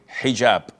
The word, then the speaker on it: hijab: And I know in France they don't pronounce the h when it is in the beginning of the word as in hotel or but this is an Arabic word.